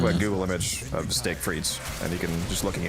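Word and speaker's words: frites: Google image of steak frees and you can just looking at it, you'll make your mouth water. It's fre is spelled f r i t e s.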